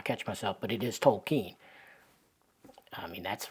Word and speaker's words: Tolkien: Tolan himself how many people continue to say tolken I still say tolken every now and again I'll catch myself but it is tolken I mean that's right out of the guy's